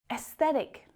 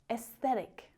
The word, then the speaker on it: aesthetic: Aesthetic doesn't need that A either. Aesthetic.